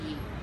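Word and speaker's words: 鱼: word fish yep uh in Chinese it's pronounced as you so you know they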